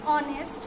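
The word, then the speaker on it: honest: এখানে আমি যদি বলে দেই কিছু শব্দ যেগুলো এইচের উচ্চারণ এইচের মতো হয় না, তাহলে সেটা হচ্ছে অনেস্ট, আওয়ার, তারপরে হবে অনারেবল।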